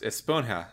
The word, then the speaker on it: esponja: time which is that it's supposed to be pronounced esponja with a with a h j rather than a sponge yeah yeah she said